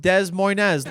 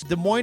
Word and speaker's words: Des Moines: expecting when I heard Des Moines, Iowa. It's also my favorite capital that has 2 S's that are both silent. That's right, it's not pronounced Des Moines.